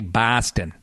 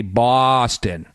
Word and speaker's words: Boston: not we don't say Boston we say Boston b a w like Red Sox s a w that's the key to